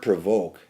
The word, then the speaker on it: provoke: word and here's why the word provoke has two syllables Pro and voke but I said Pro it's not really Pro it's really Pro voke why